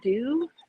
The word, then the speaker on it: Deux: And my last would be, I don't know the lady's name, but her product is Dew. So it's called I Love the Dew. It's spelled Deux.